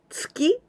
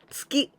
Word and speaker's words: 月: The moon, tsuki. The punch is also tsuki. And please be careful with the intonation.